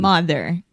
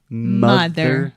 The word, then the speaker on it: mother: Mother. Mother. Perfect. quick pronunciation note. Mother. This is the schwa sound, o som do schwa.